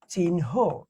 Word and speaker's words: চিহ্ন: এটার উচ্চারণ হচ্ছে এরকম, এই দেখো, চিহ্ন। আমি কি প্রথমে ন হসন্ত পরে হ।